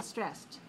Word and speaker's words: stressed: and it's also 1:1 so stres SPD one syllable stressed how are you feeling I'm feeling so stressed